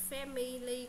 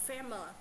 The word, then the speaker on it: family: có trọng âm ấy, thì những cái mà âm như kiểu là âm Y thì nó sẽ biến thành âm Ơ đấy, nên là mình sẽ đọc là family cũng được, hoặc là family, đúng không?